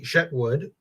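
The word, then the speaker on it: Chetwood: Alshet is on the edge of the Shetwood, and I only pronounce it that way because, as I said, French.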